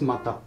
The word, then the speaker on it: 股: And the first, this letter, it's pronouncing Uchi. And then of course another one is Mata.